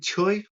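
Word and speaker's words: Tsui: The Hamsu Choi someone like that. Someone who's been there will know how to say Choy. Yeah. Spelled with a T but Choy.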